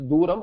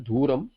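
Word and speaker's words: दूरम्: I also made another mistake, that mana sambandha duram, it is duram. I may have pronounced it with mahaprana as dhuram.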